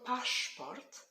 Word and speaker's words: paszport: The word paszport has sh sound. S, Z together make one sound. Sh. Paszport.